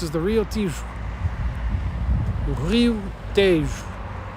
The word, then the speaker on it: Tejo: Rio Tejo. It's pronounced Tejo. T-E-J-O.